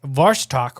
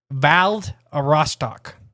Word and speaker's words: Vladivostok: and in the west, Vostok, Russia. Wait, Lake Vostok? No. Oh. I'm not saying it right. It's Vladivostok. Oh, yeah, that's a lot different.